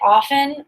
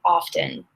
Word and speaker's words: often: is you can say often or you can say often they're both fine just choose one Go